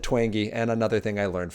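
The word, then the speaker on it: Twenge: San Diego State University the last name is said twangy and I apologize if you guys have gone out and said it wrong last name is said twangy and another thing I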